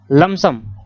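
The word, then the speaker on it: lump sum: a life, comma लमसम, लमसम P silent होता है दोस्तों, लमसम पेमेंट, लमसम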